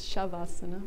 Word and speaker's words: Shavasana: it's an essay it depends on Sanskrit it's pronounced SH so shove asana that spelled essays shavasana with a sound it's hard to know unless